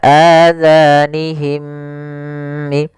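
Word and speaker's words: آذانهم: Hati-hati dalam pelafalan zalnya, jangan sampai terbaca dengan huruf za. Kemudian mim mati bertemu mim dinamakan dengan idgham mim. Maka adzanihim.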